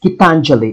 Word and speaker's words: Gitanjali: It's pronounced Gitanjali.